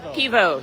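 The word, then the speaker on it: pivo: right how do you say beer and croatian pevo yeah yeah and it's only what nine o'clock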